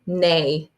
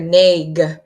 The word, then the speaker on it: neigh: the last silly one horses say neigh and when I'm reading that I just hear n ei I don't really hear neg cuz you don't say the GH so that was a